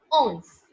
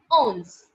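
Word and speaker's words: onze: as o n z e and it is pronounced as owns owns it is pronounced as owns owns okay after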